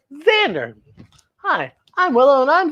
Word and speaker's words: Xander: It's pronounced Xander, even though it's spelled with an X, it says Xander.